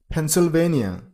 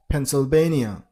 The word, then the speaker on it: Pennsylvania: Pennsylvania. Stress on a third syllable. I mean on basian he receive letter but in American accent in most of the cases turns into bian so it's pencil bania Pennsylvania next number 39 road